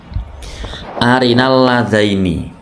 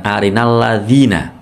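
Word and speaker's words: أَرِنَا: 41 ayat 29 Arini bukan arinina pelajaran selanjutnya a jamiun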